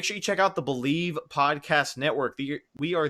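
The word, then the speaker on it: Bleav: so make sure you go check them out believe pronounce believe but spelled b-l-e-a-b and also a shout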